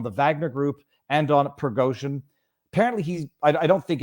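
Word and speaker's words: Prigozhin: Saturday morning initiated by pergosian progosian I think is his proper pronunciation uh who is the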